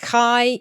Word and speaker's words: chi: and the Greek letter chi in ancient Greek. That's the one that looks like an X. It's actually pronounced like a ch, like the CH in loch.